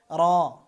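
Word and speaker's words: ر: র। র উচ্চারণ করবেন জিহ্বার আগা তারপরে পুরো তালুর সাথে লাগাতে হবে, অর্থাৎ এই যে যে দাঁত, এই দাঁত সংলগ্ন এই তালুর সাথে। র। র একবার কম্পন হবে।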